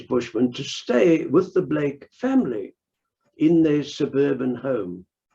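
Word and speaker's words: Bleek: is sped b l k uh but you pronounce it in the English version of it as you would Boven so Blake and he uh came to South Africa first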